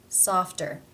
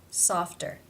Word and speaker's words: softer: cluster f t therefore as it is part of this cluster it is pronounced as a real t sound softer softer how do you pronounce